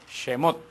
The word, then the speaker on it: Shemot: lexus ya conoces recuerdan cómo se dice éxodo en en hebreo jemmott semos se recuerda y que